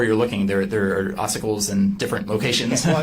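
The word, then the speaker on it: ossicles: The um and I'm I guarantee I'm going to pronounce some medical words wrong, but oicles. Oicles.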